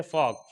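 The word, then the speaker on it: folk: इसी तरीके से यॉक, यॉक के अंदर के से पहले एल आ गया तो ये भी साइलेंट हो गया। इसी तरीके से फॉक, फॉक के अंदर क्या होगा, के से पहले एल आ गया है तो ये भी साइलेंट हो गया है।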